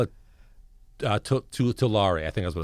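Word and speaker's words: Tulare: it right two laura i don't know if it's pronounced tular or too larae it's like t-u-l-a-r-e it's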